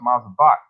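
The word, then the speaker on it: מזבח: It says mizbah, but it's pronounced mazabak.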